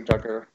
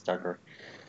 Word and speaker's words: Dugger: some child dude your Duggar I never really did learn how to say it I think it's Duggar yeah I think it's Duggar so he is a